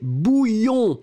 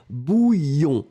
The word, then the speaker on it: bouillon: Deuxième chose, c'est un substantif et c'est masculin et c'est bouillon. Souvenez-vous, prononciation y-y-y-y-y, bouillon.